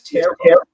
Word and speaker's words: tarot: So you said it's tarot. Yeah, tarot. The last T is silent.